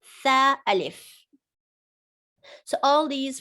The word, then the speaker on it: ث: Remember, the 2 upper incisors, and this is your tongue slightly sticking out. Tha alif.